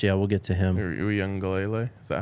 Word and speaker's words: Uiagalelei: Uiagalelei. Is that how you pronounce it? Uiagalelei.